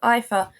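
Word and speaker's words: iPHA: back home in Australia people call it IFA which is probably just the English pronunciation I think I've just gotten used to saying EA because I work with a lot of Germans um nonetheless uh we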